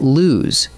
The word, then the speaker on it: lose: Now drop one O and you get lose, which rhymes with news.